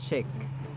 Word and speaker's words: chic: salubrious this word resembles chick chick chick where ch is pronounced as ch as in sh sh sh but this word is chic chic sh and then long e chic chic yada yada